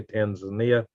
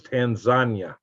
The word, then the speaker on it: Tanzania: They don't say Tanzania. It's Tanzania. Like a lasagna.